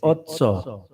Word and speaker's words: otso: Eight is in Spanish is really said ocho, but you guys say otso, O-T-S-O, right? Ocho. Otso, Ocho.